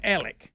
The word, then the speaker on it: Alex: they call it Murdock his name looks like Alex and they call him Alec yes what is that